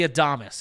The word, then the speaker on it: Adames: And then Willie Adames is how you pronounce his last William name. 86. Adames.